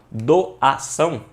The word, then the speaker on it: doação: Quando você bate lá na porta, ó, doação, aí a sílaba tônica vai ser o são, então isso aqui vai ser uma palavra oxítona, que é a última sílaba tônica, beleza?